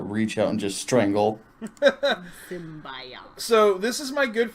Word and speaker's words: symbiote: Larry, is it symbiote or symbiote? It is symbiote. Any other pronunciation is wrong and jarring.